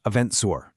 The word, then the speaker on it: EventZR: This has been Eventful Australia from the Eventful World 2026 series by EventZR, pronounced Eventzour.